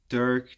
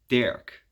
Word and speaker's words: Dirk: Dirk, that's how you pronounce it in English, Dirk. In Dutch we say Dirk.